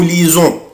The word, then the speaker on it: lisons: مش محتاجة بقى انت عارف انا ليه بنطق هنا الاس زد. برافو عشان هي جاية بين دوبل فويل. autrefois verbe lire je lis, tu lis, il lit, elle lit, on lit, nous lisons, vous lisez, ils lisent, elles lisent.